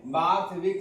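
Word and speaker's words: Borthwick: विक कह लीजिए या वक कह लीजिए, ऐसे विक ही कहिएगा। उच्चारण में बार्थविक गिलक्रिस्ट इनका पूरा नाम था।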